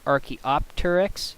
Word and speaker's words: Archaeopteryx: If this part were to come in the center of the word, like in the word Archaeopteryx, the P is voiced in that case.